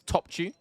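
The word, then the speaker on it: Topçu: I'll always remember how to pronounce this one, which is Topchu.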